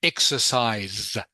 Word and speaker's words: exercise: Just remember, Ding Lam, remember exercise, have to pronounce the Exercise. last consonant, which is the S. Exercise. Exercise.